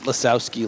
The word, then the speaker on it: Lisowski: I pronounce it Lisowski, like Lisowski, sure. like Monsters Inc. The big Lisowski.